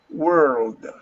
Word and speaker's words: world: okay india uh i pronounce this please world world gamble world world world you have to round your tongue back world world i know